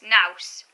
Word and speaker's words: nous: Yeah, it's nous, that's how you pronounce it. It rhymes with house. Nous.